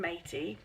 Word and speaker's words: Maytee: know them all and she pronounced her name matey I have one of